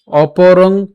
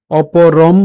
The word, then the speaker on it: অপরং: শ্লোকের যে লাইনটা রয়েছে, এই লাইনের মাঝে কোনো শব্দের সাথে যদি অনুস্বার থাকে, সে অনুসারের উচ্চারণটা কিন্তু অনুসারের মতোই হয়, অর্থাৎ উচ্চারণ অপরং হবে, অপরম হবে না, অর্থাৎ ম হসন্ত হবে না। এর উচ্চারণটা অনুসার অনুসারের মতোই হবে, অর্থাৎ অপরং উচ্চারিত হবে।